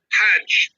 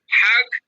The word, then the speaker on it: Hajj: slang or pronunciation so the word is not hug but Hajj I mean Hajj in Arabic hug in Egyptian Arabic and of course the